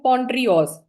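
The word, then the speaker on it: Pondreos: पोंड्रियोस spelling है इसके पी ओ एन डी आर ई ओ S Hindi में आप इसको लिख सकते हो पोंडरियोस इसको मैं स्प्लिट करके लिख देती हूं पोंड री ओस ऐसे करेंगे इसको स्प्लिट पोंड्रियोस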